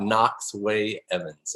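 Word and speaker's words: Knox Wei-Evans: So tell us a little bit about Knox Way Evans. Am I pronouncing it right?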